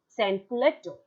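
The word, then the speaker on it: sans-culotte: Maybe the spelling is written and there is a hyphen, but that is spelled or pronounced together. Sansculotte.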